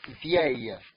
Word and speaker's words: vieille: If it is female, you are using for a feminine word now, you use vieille. Vieille. As I'm pronouncing it, say it with me.